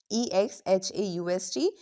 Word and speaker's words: exhaust: E X H A U S T exhaust. It's not exhaust, it's exhaust. Now listen carefully.